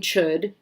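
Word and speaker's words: chöd: So we have practicing chud. It's got the little umlaut over the O, so it's pronounced chud, like book.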